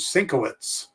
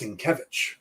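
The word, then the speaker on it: Sienkiewicz: bilson kevich i thought his last name was cinkowitz for a long time because of other pronunciations of polish last names i've seen but it's in kevich so all right guys let's wrap that up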